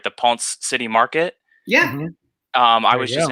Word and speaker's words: Ponce City Market: glass in Atlanta at the, I think I'm pronouncing it right, the Ponce City Market.